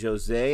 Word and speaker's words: Jose: This is a film that is directed by Lijo Jose. And I'm saying the J, a hard J, because a friend of mine on Instagram told me that's how you pronounce it.